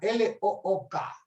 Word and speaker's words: look: La primera palabra, L-O-O-K. Cuando hay dos O seguidas, se pronuncia como U, no se pronuncia como O. Entonces es look.